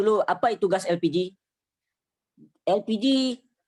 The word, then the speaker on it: elpiji: apa itu gas elpiji elpiji pelafalan bahasa Indonesia dari ekonomi bahasa Inggris LPG yaitu Liquid Petroleum gas